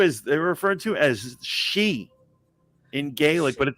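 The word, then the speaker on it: sidhe: it referred to as they're referred to as she in Gaelic but it's spelled s-i-d-e-h-e but that's pronounced she but that's what an elf is there's [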